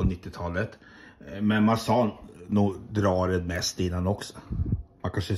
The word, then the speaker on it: Drared: Jag berättade precis nyss att endast namn från Drared till Drared där vi bodde utanför Lagerfors på 90-talet. Men man sa nog Drared mest innan också.